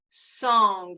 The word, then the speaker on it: song: internal um experience with Tai Chi is called song and this has to do with our joints and song is spelled s-o-n-g song open joint and what that